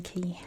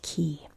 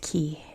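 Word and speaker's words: Cay: been to the Bahamas, in the Bahamas, this is pronounced key. In the United States, it's pronounced K.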